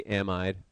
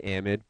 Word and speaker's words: amide: It's spelled like it should be amide, but we say amide for whatever reason.